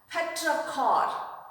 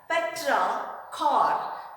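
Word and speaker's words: petrichor: rain is called as petra cor it's not petri even though it is written as p e t r i it has to be pronounced as petra car what do you call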